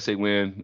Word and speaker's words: SAWIN: of talk through, the functionality, working here with SAWIN, with SAWin.